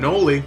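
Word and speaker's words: Knoli: I'm Noli, the K is silent, and this is SCP Weekly.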